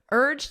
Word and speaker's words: urged: Urged him in the past simple. Listen to my pronunciation. Urged. So it ends on a very soft D sound.